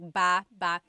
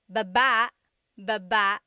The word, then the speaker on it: baba: Then there's baba baba. Emphasis is on the second syllable syllable. That means to go down. Baba, like going down an elevator.